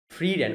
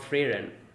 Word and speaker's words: Frieren: legendary mage right okay Freedom okay that's how her name is pronounced not freyren and his beard okay